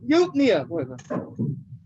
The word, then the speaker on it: eupnea: Isn't it pronounced like Eupina? Eupina? There you go. Eupnea. Eupnea. Okay.